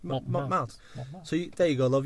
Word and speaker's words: Montmartre: out of me relentlessly for pronouncing the name of the artistic and red light district, Montmartre, which is how you pronounce it. That is how it is said, Montmartre, because it's a French word.